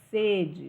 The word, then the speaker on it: sede: exemplo estou com sede o som do primeiro e ele é o qu ele é fechado sede estou com sede agora eu fui na sede o som do primeiro